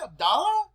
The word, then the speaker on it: Abdullah: the uh the show we want to thank Abdullah am I pronouncing your name right absolutely not am I even close to it abdala actually you're pretty damn close damn right but